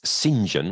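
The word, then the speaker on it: St John: It's Sinjon, which is spelled Stjohn.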